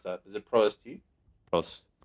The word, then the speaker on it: Prost: How do you pronounce that? Is it ProST? Prost.